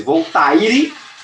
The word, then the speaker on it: Voltaire: Escreve-se Voltaire, mas se pronuncia Voltaire.